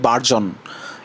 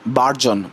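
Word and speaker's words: burgeon: বার্গিয়ন এটা কিন্তু বার্গিয়ন না এটা হবে বারজন এটা হবে বারজন বি ইউ আর জিইও এন বি ইউ আর জিই ও এন বারজন বি ইউ আর জিইও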